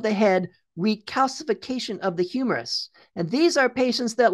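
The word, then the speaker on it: humerus: partial destruction of the head of that bone pronounced humorous attribute look at how thin that bone is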